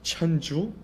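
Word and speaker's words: 천주: In Korean, it is pronounced Cheonju, and Catholicism in Korea soon became known as Cheonju-gyo, or religion of the heavenly master.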